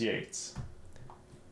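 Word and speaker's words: Yeats: English speaking people um and I was not aware that it was uh pronounced Yates interesting see you live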